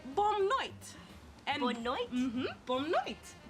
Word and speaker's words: noite: Or you can say bom noite. And Bonne noite? Bom noite. Bonne noite. How do you spell that?